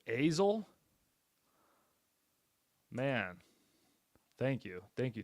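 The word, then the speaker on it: Azle: to skip trace it azil is with a long a sound it's ail man thank you thank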